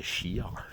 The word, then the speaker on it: cheikh: Ils sont appelés des cheikhs, des chirs, selon la bonne prononciation.